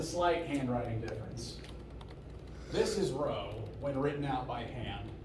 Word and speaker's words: rho: I've said that before it's the Greek letter row spelled like this if that helps it's like uh rhododendron and I I historically